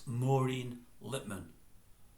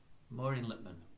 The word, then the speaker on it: Maureen Lipman: it I really am forgetting it I'm not pronouncing your voice properly there it's Maureen Littman Maureen littmann what a character what a power in the